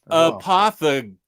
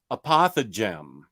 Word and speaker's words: apothegm: Apothegm. Oh, it's not like phlegm. Oh, I see. It rhymes with phlegm. Apothegm.